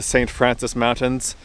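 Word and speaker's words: St. Francois Mountains: And these mountains, like I said, are called the St. Francis Mountains. They're spelled like this, like Francois, but I think people pronounce it Francis.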